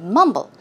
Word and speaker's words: mumble: it out okay so to mumble the stress goes on the first syllable for example its mum